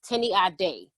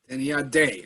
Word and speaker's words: Tenny Ade: And my name is pronounced Tenny Ade. Tenny Ade. Okay, I see the accent in the E.